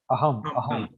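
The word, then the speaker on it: अहम्: Aham means myself. Aham. So that A is silent here. So aham, like that.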